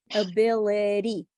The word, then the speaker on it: ability: without me teaching you so this is called the flap T sound did you notice guys did you notice how Sophia said it she said it like an American right ability right so it's when you take the tip of your tongue and you touch very quickly where you make the T sound so it's in the middle between a t sound and a D sound let's try ability um